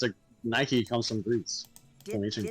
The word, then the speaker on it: Nike: is like it's like it's pronounced like the shoe brand iik yeah oh okay yeah a I don't know I don't know if they're allowed to use a okay Nike well no no it's